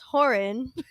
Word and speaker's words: Horan: smile why are you stressing how do I pronounce his last name it's well it's horin I said the whole thing I'm actually like